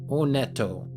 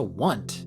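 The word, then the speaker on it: Onett: Now sure it is a completely different language. So pronunciation will differ slightly like how Paula does with pa. But onto isn't even close to want or whatever people say.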